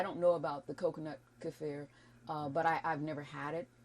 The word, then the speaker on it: kefir: And as far as the kefir is how it's pronounced. Some people it's pronounce kefir. It. Yeah. And kefir. Kefir. Some people pronounce it that way.